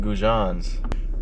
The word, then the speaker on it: goujon: So then why is goujon pronounced goujon? Why? Because it's French.